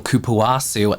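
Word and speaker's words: cupuaçu: which was the same formula as their original Kuwasu lip butter.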